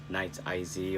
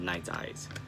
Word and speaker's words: Nite Ize: butchered their name because the rep told me that it's pronounced night sized not nights I see or whatever I called it last time but so sorry it's called night eyes so this is a